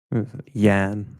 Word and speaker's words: Jan: Yan, like, you know. Yam. Like yam with an Yam, M. yam. Yeah. Yeah, like Yan, but with a hard N instead of an M.